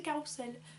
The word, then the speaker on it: carrousel: où carrousel et bats la bonne prononciation c'est carrousel parce que ça a beau s'écrire phonétiquement entre deux voyelles du coup ça devrait être carrousel mais ça se dit quand même carrousel mais ces deux ex